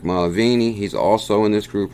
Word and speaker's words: Mulvaney: senator confirms Bitcoin support or Mick McCauley mcvane II as Trump's budget director so confirms Bitcoin supporter Mick Mulvaney I said that name wrong Mick Mulvaney he's also in this